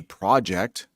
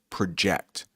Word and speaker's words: project: All right, this word can be tricky because we have something called a project, which is like something you work on, but they didn't say that in the news clip. They said project, pronounced a little differently.